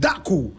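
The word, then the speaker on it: Dacko: first president of the Central African Republic David daku whose photograph you see right here David D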